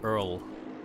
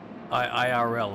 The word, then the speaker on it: IRL: I've been pronouncing it Earl, so it's good to know these things. Oh. You were pronouncing what? Sorry? IRL. I've been saying Earl, and that's why people don't know what I'm talking about, I guess.